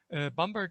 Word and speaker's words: Bamberg: in germany called bamberg to use the proper german pronunciation bamberg is a medieval city